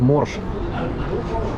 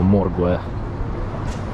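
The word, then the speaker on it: Morges: Че, приехали в Морж. Пишется, конечно, вообще ржачный городок, типа Моргуэ.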